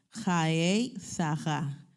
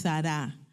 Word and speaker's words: Chayei Sarah: Jaei saja, no es sara sa porque la se pronuncia de esa forma.